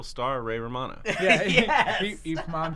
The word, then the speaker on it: Ip Man: Ip Man. Ip Man. IP Man is what it looks like.